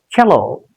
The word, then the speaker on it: cello: The stress will be on the first syllable. It's a disyllabic word. Two syllables are there in this word. Cello, cello.